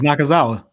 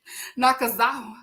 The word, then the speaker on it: Nakazawa: I cannot say his last name, but I'll be saying Nakazawa. That is it. Oh, it's Nakazawa. Nakazawa.